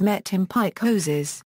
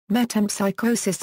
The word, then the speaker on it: metempsychosis: in joyy and fashion the word famously appears mispronounced by Molly Bloom as met in Pike hoses in Thomas pin's 1963 Premier novel V metam psychosis is mentioned in reference